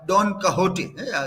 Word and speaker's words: Don Quixote: by literature so uh don kahoti this this word also you can see how it is pronounced it is written as Don kickstarty Spanish word Don kahoti because of slow net